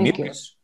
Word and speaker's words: mucus: Mucus, you can say it's technically called mucus. Mucus. Mucus, se pronuncia mucus, la U como U.